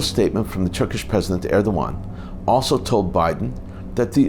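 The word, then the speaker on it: Erdoğan: turkey Turkish president T erdogan the G is pronounced as a w by the way held a phone conversation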